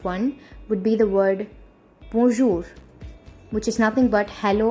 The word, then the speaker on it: bonjour: So the first one, and comparatively the most important one, would be the word bonjour, which is nothing but hello or hi in French. Listen to the pronunciation very clearly.